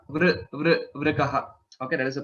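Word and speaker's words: वृकः: Vrikaha. Vrikaha. Okay, that is the pronunciation.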